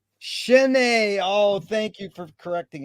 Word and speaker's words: Chesnet: and a pleasure to be here with chestnut is that the correct way to pronounce it no it's not it's pronounced but everybody gets it wrong shenei oh thank you for correcting it thank you uh what's the best thing for